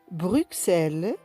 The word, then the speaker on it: Bruxelles: Bruxelles 6 10 60. Nous avons X qui se prononce S dans quelques cas particuliers comme Bruxelles 6 10 60.